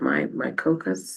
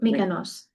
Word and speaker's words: Mykonos: My Cocos? Oh, Mykonos.